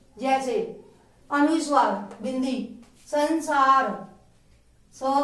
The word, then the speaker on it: संसार: अनुस्वार का उच्चारण आधे म के समान, जैसे संसार इसमें आधा म की आवाज आती है, और विसर्ग के उच्चारण